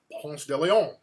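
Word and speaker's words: Ponce de León: So the correct pronunciation is Ponce de Leon.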